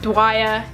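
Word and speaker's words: Dweia: Her name is spelled D-W-E-I-A and I pronounce it Dwyer.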